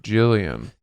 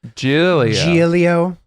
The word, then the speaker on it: Giulio: I went between saying G and Giulio, and it came out like Jillian. That's not an uncommon mispronunciation of my name. Giulio.